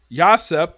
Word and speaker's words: Yasopp: Of course, the thing is, Yasopp, that's how you pronounce it, despite the fact his name is basically spelled like Usopp, except with a Y instead of U.